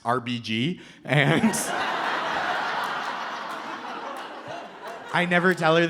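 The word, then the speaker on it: Arbygee: And her name is spelled A R B Y G E E and it's pronounced RBG.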